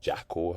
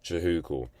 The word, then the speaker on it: Jehucal: Some call it Jehucal or Jackal. Her one guy called it Jackal. Don't know what's going on there, but it's pronounced Jehucal, and it's actually my first name.